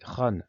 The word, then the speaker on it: Han: l' empire chinois des ran c'est le nom de la dynastie c'est ainsi que ça se prononce aujourd'hui c'est d'ailleurs même nom